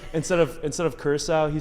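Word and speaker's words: Curaçao: He mispronounced like 6 different. He said North Macedonia. Hey, he said Curacao instead of Curacao.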